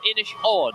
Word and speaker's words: Inishowen: And behind us, oh my goodness, we're gonna be talking about, this is the, I'm gonna mispronounce this one as well, Inishowen. No, Inishowen.